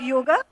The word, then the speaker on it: yog: In many Indian languages such as Hindi and Bengali we naturally pronounce it as yog.